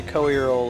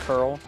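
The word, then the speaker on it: Coeurl: You pronounce the C-O-E as Co, and then the end is U-R-L, Earl, Co-Earl.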